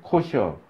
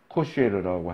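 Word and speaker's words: כשר: 법을 지키면 그 음식법 이제 코셔 코쉐르라고 하는 사람도 있고 발음이 뭐 히브리어니까 우리나라는 똑같지 않으니까 뭐 코셔라 이렇게 하기도 하는데 코시어법을 지키느라고 율법이 금한 음식은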